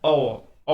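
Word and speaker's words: hour: ही return after dash अवर, अवर, अवर, अवर, अवर, अवर, आवाज को ध्यान से सुनिए, अवर, एन आएगा, वॉवेल साउंड शुरू हुआ।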